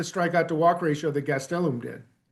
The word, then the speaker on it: Gastelum: Uh Luis Gastelum. Gastelum. I have to work on getting that accent on the middle syllable.